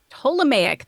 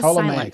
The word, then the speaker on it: Ptolemaic: Ptolemaic. The P is Ptolemaic. silent. So the P is silent.